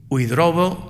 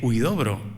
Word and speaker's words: Huidobro: desde el colegio Tajamar, que no Tamajar, que es más difícil decir Tamajar, igual que es más difícil decir Huidrobo que Huidobro, ¿eh? Y mucha gente pues baila a lo mejor alguna de las sílabas o la colocación de la R y nos resulta luego en castellano, en español nos resulta difícil pronunciar, ¿no?